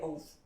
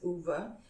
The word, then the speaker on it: Ove: from I assume also Scandinavian name um so it's spelled o v e so I call it o and someone corrected me I I'm very thankful